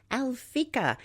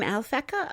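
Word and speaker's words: Alphecca: The brightest star in Corona Borealis is Alfikica. We'll spell that A L P H E C CA, also known as Gemma, G E M A. Sometimes called the pearl of the crown. The name Alfeca originated with a description of Corona Borealis as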